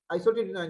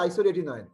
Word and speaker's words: isotretinoin: Isoretinoin এটা আমরা উচ্চারণ করি আইসোটেটিনয়েন, কিন্তু এটা আসলে আছে উচ্চারণ হবে আইসোটেটিনয়েন। হ্যাঁ, কিন্তু সবাই আমরা যারা ডার্মাটোলজিস্ট যারা আছে সবাই মোটামুটি 95% ডার্মাটোলজিস্ট উচ্চারণ করে আছে আইসোটেটিনয়েন, কিন্তু আসলে উচ্চারণ আছে আইসোরেটিনয়েন।